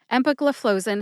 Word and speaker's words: empagliflozin: the new Love house flow is the fourth syllable flow as in water flows out of a faucet and Zin like zinfindel which is a very popular wine here in the United States especially on the west coast near the Pacific Ocean as it happens put